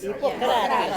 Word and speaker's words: Hippocrates: Do you say Hippocrates? Hippocrates. Is correct? Yes.